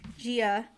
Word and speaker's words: Gia: Gia.